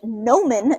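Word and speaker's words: gnomon: to be what we're going to call a nomen g-n-o-m-o-n is how you spell that and basically that's just the thingy that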